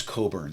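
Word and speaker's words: Cockburn: out and said, "Well, if I spelled my name C O C K B U R N, I'd pronounce it Coburn, too.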